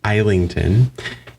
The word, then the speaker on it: Islington: Do not pronounce that S. Do not.